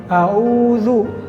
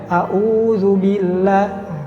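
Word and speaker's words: أعوذ: sering terjadi seperti ini a'udzu atau dua-duanya in aruzun maka harus beda antara Hamzah dengan main contohnya tadi audzubillahiminasyaitonirojim tidak Audzubillah kalau itu dua-duanya Hamzah kemudian banyak salah juga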